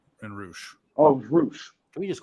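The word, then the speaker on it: Rush: Oh, it was Roosh.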